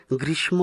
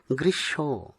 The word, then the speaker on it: গ্রীষ্ম: হবে সমুদ্র সমুদ্র নয় এই শব্দটি অনেকেই ভুলভাবে গ্রীষ্ম উচ্চারণ করে থাকেন। কিন্তু ম ফলা ব্যবহারের নিয়ম অনুসারে এর সঠিক উচ্চারণ হবে গৃস।